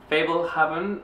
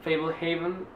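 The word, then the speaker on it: Fablehaven: feria Ricardo Palma fue fable Heaven fa Haven no es Heaven de cielo porque así no se escribe Heaven creo de Brandon mool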